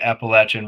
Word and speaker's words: Appalachian: Well, it's not secret anymore, but a certain event taking place in the Appalachian region that Oh rhymes with wow, Appalachian Schmungen Schmest.